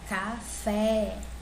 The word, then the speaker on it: café: No caso aqui de café, se eu pronunciar café, eu sei que o fé é a sílaba mais forte, né? Ou seja, a última sílaba é mais forte, é um oxítono.